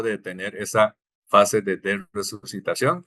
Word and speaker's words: resucitación: Si analizamos la palabra resucitación, en español se pronuncia exactamente igual, con s o sin s.